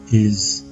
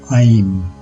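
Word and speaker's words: ऐं: mantra for sarasa is aim as much as it does look like in the English word aim it is not pronounced this way The Vow here is a compound vowel and is pronounced as I similar to the English word I and remember all compound vowels are long vowels so Saras be Mantra is I next we have have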